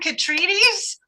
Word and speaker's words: Kotrides: It's Catriedes, rhymes with Wheaties.